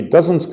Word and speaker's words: does: is positive she comes from England negative she doesn't come from America and a question where does she come from notice the pronunciation of does and dozens does he speak